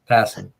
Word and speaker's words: Passan: Passan, Passin? What the hell is his last name? How you say it? Passan.